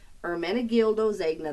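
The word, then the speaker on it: Ermenegildo Zegna: it better but my my understanding is it's hermana gildozagna that's as close as I'm gonna get it's a great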